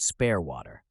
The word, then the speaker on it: Spaarwater: conversation with this man his name he told me was Spar waterer which he pronounced spare waterer he was a farmer